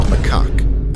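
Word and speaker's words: macaque: Next up, we have the long-tailed Macak. And yes, that is actually how you pronounce it.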